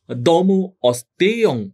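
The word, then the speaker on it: দমোঽস্তেয়ং: ধৃতি, ক্ষমা, দম, অস্তেয়ং, এখানে এটি হ নয়, এটি হচ্ছে লুপ্ত অ। সংস্কৃত, যেহেতু এটি সংস্কৃত শব্দ, এটি এখানে সন্ধি হয়েছে এবং এটি হচ্ছে লুপ্ত অ। এই জন্য উচ্চারণটিও আমরা হ করব না, উচ্চারণটি করব অ।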